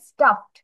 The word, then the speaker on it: stuffed: এটা প্রোনাউন্সিয়েশন হবে স্টাফড।